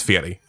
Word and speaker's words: Fieri: It's Fieri. Fieri. Fieri. Fieri. Fieri. It's Guy Fieri. It's like a Yeti.